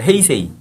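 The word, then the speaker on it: 平成: 쇼아 시대였고 1989년부터 이제 평성 일본말로 헤이세이 그래서 지금 뭐 올해가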